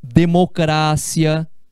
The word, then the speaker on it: democracia: é a sílaba tônica como é por exemplo a palavra é democrácia no lugar de democracia académia no lugar de academia aqui a gente tem